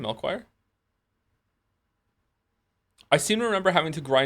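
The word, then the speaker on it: Melchior: Melchoir.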